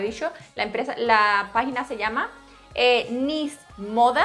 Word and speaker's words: NYZ: la página se llama Nis Moda. La tienda online se llama Nis, N-Y-Z, no con S, como yo lo pronuncio de mal.